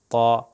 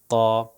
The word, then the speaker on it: ط: پہ تقریباً لگتے ہیں، مگر جب یہ طا جو تلفظ کیا جاتا ہے یہ موٹا تلفظ کیا جاتا ہے، اور زبان پیچھے سے جو ہے تھوڑی سی اوپر چلی جاتی ہے، جس کی وجہ سے یہ موٹا تلفظ ہوتا ہے۔ مثال کے طور پر